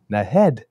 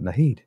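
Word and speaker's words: Naheed: And that evening, she was in Edmonton introducing Nahid Nenshi. I've now found out, not Nahid. So That's the proper pronunciation of his name.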